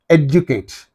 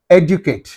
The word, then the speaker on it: educate: Educate. Educate.